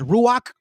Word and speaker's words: ruach: Did you know that the Holy Spirit we pronounce as ruach?